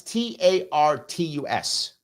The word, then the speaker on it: Tartus: I think it's pronounced Tartus, I think. I'm going to look at it right now so I can find this thing here. It is, I think it's pronounced Tartus. It's Tartus.